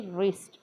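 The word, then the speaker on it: wrist: आपली रिस्ट स्ट असते डब्ल सायलेंट आहे डब्ल आर आय एसटी रिस्ट रिस्ट म्हणजे मनगट रिस्ट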